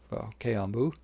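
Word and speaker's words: 軽音部: Club, K-On!bu, is how you pronounce it, or Light Music Club, has their lives or concerts.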